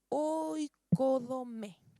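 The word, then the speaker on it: οἰκοδομή: La palabra edificar en el idioma griego es oikodome, O-I-K-O-D-O-M-E, acento en la E, que es el acto de construir, edificar una casa, un hogar.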